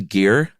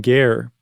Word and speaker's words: Guerre: the story uh of Martin is it pronounced a gear I've always pronounced it Martin Garr but yeah we're talking we're going to go to 16th century France so it's probably Martin Geer okay but we're not